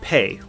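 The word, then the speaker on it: פ: Next is pe, which is just as complicated as kaf. It's our final letter that's pronounced differently with a dagesh, and with the dagesh, it's pronounced with a P sound. One example is Pesach, meaning Passover. Without the dagesh, it becomes Fe, and it's pronounced with the F sound, like falafel.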